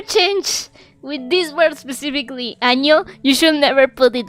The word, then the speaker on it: año: I recommend you to Google año, but with an n instead of an ñ. So you know why you should never with this word specifically, like, not use an ñ.